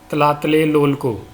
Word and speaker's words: Tlatelolco: इसको प्रोनाउंस करने के लिए आपको हेरा फेरी का बाबू भैया बनना पड़ेगा। tlatelolco।